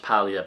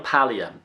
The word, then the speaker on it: Paglia: women's lib movement Camille Paglia now it's actually pronounced palea because it's a silent G in that in Italian when it's like that but it's Camille palea and she's obviously an